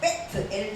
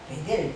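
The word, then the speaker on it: בית אל: 그러니까 이게 읽을 때 베트 엘 이렇게 읽지 않아요. 뭐라고요? 베델 이렇게 읽더라고요.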